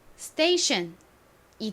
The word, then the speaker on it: station: 되죠 션 발음까지 합쳐지면 station이 됩니다 따라해 보세요 station s의 뒤에 t나 p k 등이 오면이 t p k의 소리가 좀 된 소리로 바뀝니다 그래서 티읕 소리보다 살짝 쌍디귿의 가까운 소리가나요 자 한 번 더